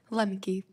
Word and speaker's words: Lemke: make a pledge to these people uh Miss what how do you say your last name Lemke do you believe that your generation particularly is